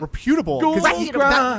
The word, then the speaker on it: reputable: He puts it the emphasis on the wrong part all the time.